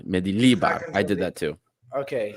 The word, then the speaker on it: Mendilibar: Yeah, the accent's on the second one, Mendilibar.